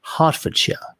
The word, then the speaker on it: Hertfordshire: like to for anybody interested in the correct pronunciation of the county it's hertfordshire or if you're posh it's just half a shot yeah now yes there was a there was um yeah hertfordshire what else but you have a hartford connecticut